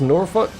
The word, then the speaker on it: Norfolk: Apparently that's pronounced Norfolk?